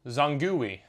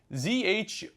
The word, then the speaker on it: Zhongyi: I purchased this lens, Zongui. And if you think I'm pronouncing that maybe wrong, it's Zhongyi.